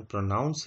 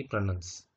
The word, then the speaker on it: pronounce: ये बात सही है कि PRONOUNCE प्रोनाउंस का सही उच्चारण प्रोनाउंस है, ना कि प्रोनंस।